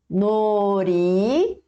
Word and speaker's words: 놀이공원: Por que você não pronunciou com som de L de lata? Porque quando a gente vai escrever nori e aí logo depois tem ian, então o som de L, tá?